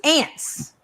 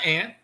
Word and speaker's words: aunt: I really think he's making fun of my Southern pronunciation sometimes because it was ants that's what we call ants that's that's my ant it's my aunt that's my aunt I